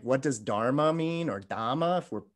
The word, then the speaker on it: dhamma: know it's like what does dharma mean or dhamma if we're pronouncing it in pali so we have the